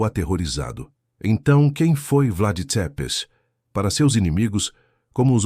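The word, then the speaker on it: Țepeș: Ele ganhou um novo apelido, Vlad Tepes, pronuncia-se Tepes, Vlad, o empalador.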